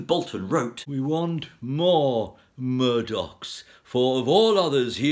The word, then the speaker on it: Murdoch: in 1782 Matthew Boulton wrote we want more Murdock's for of all others he is the most